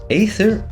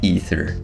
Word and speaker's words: Aether: It seems that people pronounce it both Aether and Ether.